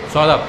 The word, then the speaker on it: Saurabh: Solab.